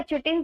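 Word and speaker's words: chitin: ही learn करेंगे, तो मैं तो इसको चिटिन ही बोलती हूँ। आप लोग इसको काइटिन कह सकते हैं, वैसे काइटिन ही बोला जाता है, प्रॉपर जो प्रोनाउंसिएशन होती है।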